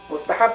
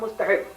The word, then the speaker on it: mustahab: Mustahab and sunnat, not mustahib. M-U-S-T-A-H-I-B, no, A-B, not mustahib. Mustahab, it is a pronunciation.